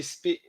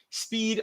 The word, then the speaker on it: Speid: Um, did you say spade? Did you say spade or speed or spade? I think his name is Spade. Even though it's spelled Speid, it's still Spade.